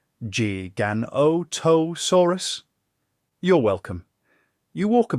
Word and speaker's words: Giganotosaurus: And here's your odd fact of the night: the name Giganotosaurus is often mispronounced. People tend to say Giganotosaurus, like it's your cousin Greg with a gym membership. But technically, it's pronounced Giganotosaurus.